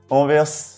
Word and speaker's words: Anvers: cathédrale saint-bome prochaine ville Anvers et oui le S se prononce on verse c'est la deuxième plus